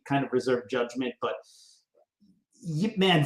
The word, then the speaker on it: Ip Man: I mean, every time an IP Man movie come out, yes, I know it's pronounced Yip Man, but I say IP Man.